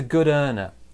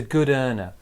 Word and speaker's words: good earner: pronunciation so it's a good earner it's a good earner so small stress on good big stress on earner also of linking as